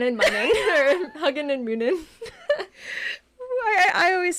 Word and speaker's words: Munin: But it's actually pronounced, let me think, Munin? Hugin and Munin.